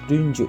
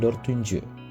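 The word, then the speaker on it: dördüncü: oke yang pertama adalah untuk angka 4 ya dalam Sera lama atau peringkat terjadi peleburan huruf ya yaitu dari huruf T ya D menjadi t-nya itu berubah jadi D ya jadinya dunju bukan dor tunju ya bisa kalian lihat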